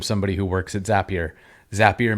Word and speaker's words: Zapier: who works at zapier zapier makes you happier that's the pronunciation that is correct